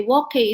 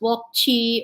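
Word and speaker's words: wok hei: At first, by the way, wok hay is WOK and then HEI, HEI. and sometimes it's pronounced wok chi or wok hay.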